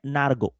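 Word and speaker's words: Nørgaard: get France gets grouped Norard is Danish no he's not Norway Norwegian Norard is Danish Christian Oscar. Christian Nargo. That's how he pronounces his name.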